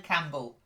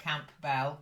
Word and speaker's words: Campbell: back then and then Campbell not that camp Bell Campbell it's a silent p Umble that's it then uh